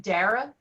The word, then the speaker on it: Dara: so i can learn i pronounce it dara dara i got it my husband's name's darren so i can remember that nice to meet you